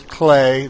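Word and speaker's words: Klei: Stop by the Clay forums, and it's Clay. They mentioned that again, that you pronounce it Clay, but you know what the hell.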